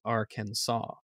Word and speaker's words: Arkansas: should be pronounced and while it's not technically illegal or punishable to say it wrong with a hard s at the end of the state's name arkansas is legally supposed to be pronounced arkansas uh it looks like